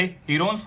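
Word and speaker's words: Heron: सबसे पहले हीरोन्स formula की मदद से हम इस ट्रायंगल का एरिया फाइंड आउट कर लेंगे। हीरोन्स फॉर्मूला आपका चैप्टर 9 है क्लास 9th का, जिसकी एक्चुअल प्रोनाउंसिएशन है हिरंज फॉर्मूला।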